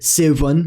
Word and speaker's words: sibun: The letter S is always pronounced as in the English chess, never as in cheese. Examples of words with this sound include sivun, meaning seven, sama, meaning same, and gras, meaning grass. The letter thorn, as said